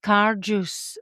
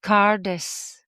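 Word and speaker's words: Cairdeas: It looks like Cardas, doesn't it? Yeah, maybe we'll just go with that. And then typically pronounced Cardus or just Cardis.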